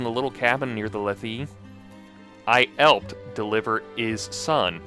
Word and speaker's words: Lethe: Yeah, I think you do pronounce the E. Yeah, I think maybe it's just a weird quirk of Greek where you pronounce the vowels, I guess, even though some things would be silent. It's like Lethe or something.